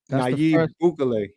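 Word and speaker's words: Nayib: got his name is n n a y i b naay there you go naive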